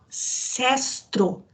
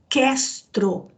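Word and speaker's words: Cestro: Olha, esse rio que Emmanuel chama de Sestro, na verdade a pronúncia é Questro, com K, por isso que eu não consegui achar na semana passada.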